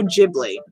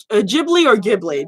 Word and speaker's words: Ghibli: from the famous studio Ghibli. Or Ghibli, depending on how you want to pronunciate it.